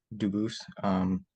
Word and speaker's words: Dubus: I am Anthony Edward Dubus. Dubus is the English pronunciation. Dubus is the original French.